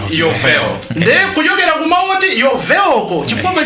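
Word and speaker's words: יובל: nkhosa ija, that's the muchiheberi akuti yobel, munati yobel, ena amati bel, koma amati yobel. Pronunciation yoyenera in Hebrew yovel.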